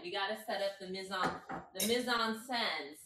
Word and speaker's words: mise en scène: I need them to give me the pronunciation. Okay, so I found the word. Hold on. Okay. Mise en scène.